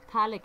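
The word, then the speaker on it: phthalic: Acids, commonly called as दी थैलिक acid. P silent है यहाँ पर।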